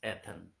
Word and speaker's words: Athens: लिख लीजिए आप, स्पेलिंग है ATHENS, एथन।